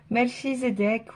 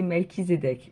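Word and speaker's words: Melchizedek: Donc sa description, Melchizedec ou Melkizedec, ah ben voilà, il me le dit. Prononcer Melkizedec. Donc c'est bien Melkizedec est un grand prêtre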